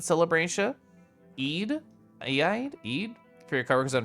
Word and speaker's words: Eid: Oh, you have a I actually don't know how to pronounce that. Aid celebration. Eid.